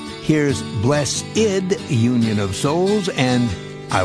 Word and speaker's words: Blessid: only one slight change he wanted to spell the word blessed the wrong way with an i instead of an e so that people would pronounce it the right way here's bless ID Union of Souls and